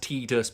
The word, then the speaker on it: Tidus: Um, I know it's pronounced Tedus, but it's Titus to me.